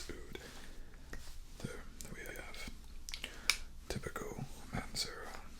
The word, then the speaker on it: oud: and spelled that way spell like out it's not it's oud there we have typical